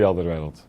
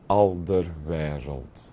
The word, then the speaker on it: Alderweireld: of those names that's just very difficult to pronounce. Hi, I'm Toby Alderweireld. Just to be clear, this is how you pronounce my name. Alderweireld. Alderweireld.